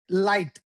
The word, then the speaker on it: light: Light night. L like L and then N. So light light night.